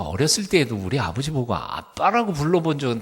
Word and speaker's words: Abba: 그걸 직역하면 아빠 합니다 아빠 아 ABBA 뭐라고 읽어요 아바라고 읽으면 안 되고 아빠 아빠 그러니까 예수님도 사도